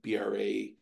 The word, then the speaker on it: Brasher: So it appears as though there's actually evidence from 1791 that Brasher pronounced his own name Brasier.